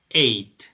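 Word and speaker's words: ate: forma de este verbo es eight y se pronuncia como el número 8 se pronuncia como el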